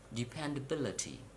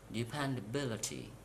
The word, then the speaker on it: dependability: and now through the for the words ending with C Y T y ph Y and G Y please count syllable from the end of the world and at the third syllable you have to stress for example democracy democracy